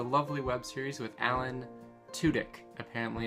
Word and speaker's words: Tudyk: which is a lovely web series with alan tudyk a family it's pronounced to dick actually heard him say it in a video